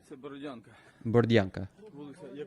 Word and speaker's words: Borodyanka: How does he pronounce it? Borodyanka.